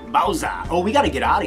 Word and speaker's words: Bowser: You don't pronounce the R. Bowser.